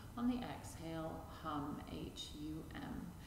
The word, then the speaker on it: Hum: hum on the exhale said to be the sound of the breath itself so try and blend